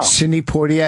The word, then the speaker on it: Sidney Poitier: I'm not violent at all, even though did I say his name wrong? No, I like how you say it. No. Sidney Poitier.